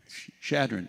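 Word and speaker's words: Chadron: Shadron.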